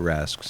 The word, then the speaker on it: Rask: The other thing I mentioned to you just last night when we were talking, Joe Bowen rolls the R in Rask when he says Tuukka Rask's name. Tuukka Rask. Rask.